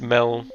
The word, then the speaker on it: Mel: It's a prequel to Portal where it's like old-fashioned like 80s aperture and you play as Mel and it rhymes with Chell and you do like Portal stuff.